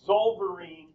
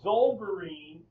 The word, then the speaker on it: Zollverein: This is the Zollverein, is I believe how you pronounce it.